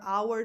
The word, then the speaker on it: hour: Our hour together's over. It's just wrong. It's too much. Our hour. So the stress goes on our, the noun, the one with the silent H.